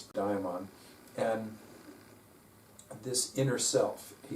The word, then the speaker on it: daimon: with your inner diamond the diamond d-a-i-m-o-n although it is spelled a little differently in different places it's also pronounced differently in different places pronounced daemon by some people but typically it's it's diamond and this inner self